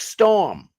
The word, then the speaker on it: storm: I just don't pronounce my R. I say like storm instead of saying storm.